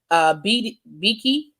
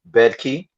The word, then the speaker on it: Bedke: Little wrote in the bill's transmittal letter addressed to Republican House Speaker Scott Beakey. Most worryingly, Bedkey. say it? Bedkey. Bedkey. Oh, I didn't pronounce the D.